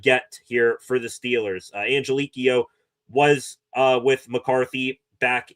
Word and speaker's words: Angelichio: I probably butchered that last name. Brian Angelikio, I think is what uh I was hearing as a phonetic pronunciation of his last name.